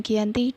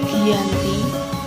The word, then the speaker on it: Giyanti: lokasi penandatanganan perjanjian yang terletak di desa Janti dalam pelafalan Belanda ia tersebut sebagai Giyanti dan secara tertulis ia terbaca sebagai Giyanti pun tempat tersebut sekarang